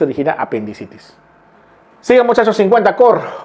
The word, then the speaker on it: cor: Al corazón del virus, usamos muchas veces este término en latín, cor, se escribe core, cor.